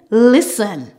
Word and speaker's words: listen: silent T let's go normally when we have the ending s t e n we don't pronounce the T it is sin for example F aen Fen Glen listen m o Mo the